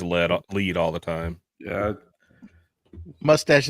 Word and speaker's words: Lead: Mike with Broken Lead Woodworks. Very good. Everybody says lead. It's like, yes, you can spell it that way, but it's actually lead, like a pencil lead, which is the whole